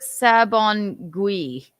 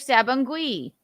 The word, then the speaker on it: Sabongui: I said IAN, not GUI. Well, no, I think she looked it up. I have to look it up. Courtney, do me a favor. Look up the name of the nationality that rhymes with their last names. IAN. Like Garagosian, like Tremalian, IAN.